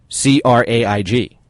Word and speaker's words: Craig: remember, friends in the U.S., the correct way to say Craig is C-R-A-I-G, or Craig.